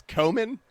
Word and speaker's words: cumin: That's actually an accepted pronunciation of the word. Komen I'm going to say that's why the mom drew a gun at the dinner table.